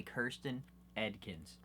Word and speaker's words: Kirsten Edkins: We started pronouncing her name correctly. Kirsten Edkins.